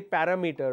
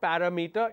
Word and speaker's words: parameter: Like parameter, we always say parameter, right? It's not parameter. It's parameter. Parameter.